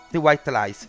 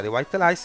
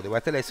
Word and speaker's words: The White Lies: Prossimo canale, The White Lies. Si pronuncia The White Lies perché io avevo detto The White Lies su un video vecchio. Sono stato corretto, quindi The White Lies, ok?